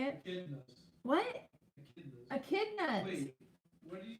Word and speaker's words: echidna: One night, as the moon was full again, the wallaby heard the familiar waddle of the echinda, if that's how you say it. Echidnas.